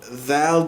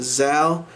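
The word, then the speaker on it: ذال: So thal became zal. Now tha, which is articulated in the same point here, which is the upper teeth and the tongue meeting.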